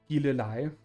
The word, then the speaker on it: Gilleleje: It's actually pronounced Gilleleje. And I can't really find any good sort of English words to explain it with.